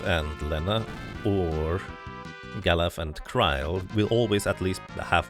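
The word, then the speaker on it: Krile: By the way, I usually tend to say car instead of Cryle, partially because I'm used to the fan translation,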